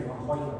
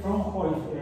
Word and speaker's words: Fraunhofer: Líneas de Fraunhofer. Bueno, esas se pronuncian en alemán. Fraunhofer o Fraunhofer en español. Se pronuncia Fraunhofer.